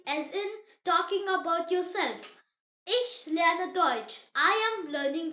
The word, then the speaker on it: Ich: I pronounced E like the E sound in the English word see. Now here's a word you will use all the time in German. Ich, say it. Ich.